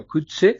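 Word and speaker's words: Coetzee: Tercero, está la novela del escritor africano que descubrí que se pronuncia Kutse, uh-huh, que se llama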